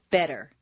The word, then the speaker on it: better: Just as you don't say the t in listen, the double t in better is pronounced d, better.